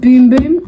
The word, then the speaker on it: Bum Bum: your BM bum see it's pronounced boom boom and no it's just